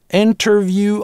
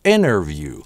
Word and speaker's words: interview: An interview, можно это слово произнести через [t] – interview, а можно подсократить inner-view. Большинство американцев реализуют его так, без [t] - inner-view. Но не во всех словах это работает. Например, winter у большинства американцев звучит с [t] и редко у кого сливается с winner. А interview редко кто говорит, чаще говорят inner-view.